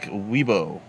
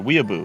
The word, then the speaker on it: weeaboo: do hello uh catholic weibo or weeaboo excuse me there's there's an extra syllable in there oh well thanks for